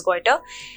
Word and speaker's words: goitre: Deficiency disease caused due to lack of iodine in our body causes goiter. So the pronunciation of this particular deficiency disease is goiter.